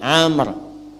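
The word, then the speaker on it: عمرو: Ini Amr. Ah, kalau dibaca begini Amr namanya. Kalau wya hilang bacanya Umar.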